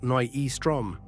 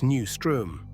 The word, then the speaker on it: Nyström: Now here's a trap. It is not Nyström. In Swedish, it's Nü ström. Through that uh, the English language never dares to touch.